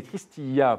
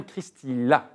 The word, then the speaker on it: Christilla: Et alors, je m'excuse tout de suite parce que la semaine dernière, je vous ai appelé Christilla pendant un bon temps de l'émission. Et c'est bien Christy-là qu'on prononce.